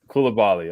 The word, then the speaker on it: Coulibaly: draft how do you say it Kula Bali Kula Bali okay there you go so I've said it